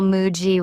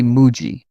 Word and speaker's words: Muji: People often call Muji with stress on the G. Japanese say Muji.